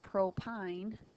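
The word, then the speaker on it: propyne: their name for example propine is how you say that the YN suffix indicates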